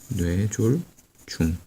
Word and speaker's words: 뇌졸중: 중풍은 같은 말로 뇌졸중이라고도 하는데 여기서 뇌졸 증이 아니라 중인 거죠. 뇌졸 중. 여기서도 중이라는 말이 이 중풍의 중자랑 유사한 기능을 한다는 것을 알 수 있습니다. 같은 말입니다. 중풍, 뇌졸중.